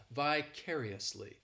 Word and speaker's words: vicariously: This adverb has 5 syllables and the stress is on that 3rd syllable. Is it on the 3rd syllable? I vaguely remember. 2nd syllable, my bad. The stress is on that 2nd syllable. Well, yes, it is on the 2nd syllable. That 3rd syllable, it's like that letter I just has that E sound, and the 4th syllable has the schwa, vicariously.